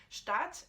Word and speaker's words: Staat: Mais Stadt, donc avec un long A, puisque déjà il y en a deux, donc ça te fait bien comprendre qu'il faut le dire long.